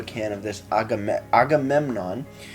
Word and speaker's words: Agamemnon: this a gamut Agamemnon took me a while to to figure out how to actually pronounce the can I thought it was Armageddon it's I'm like autumn Embassy Agamemnon it's hard to read sometimes at your local LCBO though you're